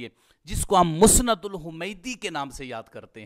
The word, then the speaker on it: الحمیدی: کے نیچے کسرہ آئے گا۔ تو اب یہ تلفظ کیسے ہوگا؟ الحمیدی۔ یہ بات ذہن میں رکھیے کہ الحمیدی بھی